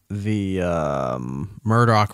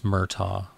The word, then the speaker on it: Murtaugh: It's Murtaugh. How do you say, Murdoch? Murdoch. Yeah, Murtaugh. My bad.